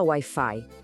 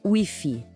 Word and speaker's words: Wi-Fi: A gente não fala Wi-Fi, a gente fala le Wi-Fi. Escuta bem a diferença no som. Le Wi-Fi. Parece mais com Wi-Fi, percebe?